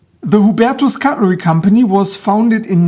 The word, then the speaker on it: Hubertus: Welcome to my review of this automatic lever lock knife by the German cutlery company Hubatus or as my American friends prefer to pronounce it Hubertis. The Hubetus cutlery company was founded in 1932 by Kunorittita in Zoningan Germany.